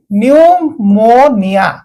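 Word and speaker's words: pneumonia: आगरे जदी पी अछि एठी पी अछि ताकू साइलेंट कर दियो तापरे बाकी पढी चलंतु न्यूमोनिया आराम से न्यूमोनिया नुह न्यूमोनिया गोटे रोगर नाम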